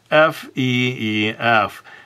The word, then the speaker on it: Feef: So, if I were to give the name Feef, I would spell it like this. F-E-E-F. Feef. This double E sound just simply cannot be pronounced any other way.